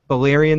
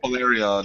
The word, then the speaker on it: Valyrian: So, uh, so the breath of the greatest dragon, uh, Bolyrian the Dread, is that how you pronounce it? Did I kill that name completely? I think I did. All right. Valyrian.